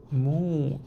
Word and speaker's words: 目: Mu is your eye. But be careful, this mu is exactly same pronunciation with the 5 elements mu.